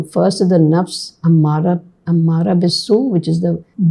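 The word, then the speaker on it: أَمَّارَةٌ بِالسُّوءِ: read, nafsum ammarat I'll read the exact correct pronunciation. Ammaratun bisu.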